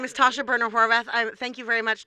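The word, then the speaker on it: Tasha Boerner Horvath: hours to say my name my name is Tasha burner Horvath I thank you very much Todd and thank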